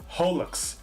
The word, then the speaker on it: HoloX: We are just going over our initial impressions of Hololive Generation 6, also known as Holo X. Supposedly, according to Omega, it's supposed to be pronounced Holix, and there ain't a